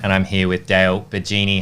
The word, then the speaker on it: Bigeni: actually bill bill Noah saying um am i pronouncing your surname correctly the genie correct yeah it is correct okay cool yes